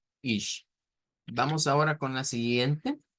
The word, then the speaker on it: ich: Y recordando que esa sigla es una mezcla entre CH y SH. Ish.